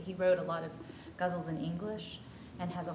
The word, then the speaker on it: ghazal: How do you spell in English guzzle, faded guzzle? Oh, it's spelled Ghazal. That's a Persian.